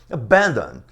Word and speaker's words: abandon: Mas a sílaba tônica não é a última. Abandon é a segunda.